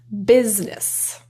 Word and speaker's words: business: Business. The I is kind of dropped.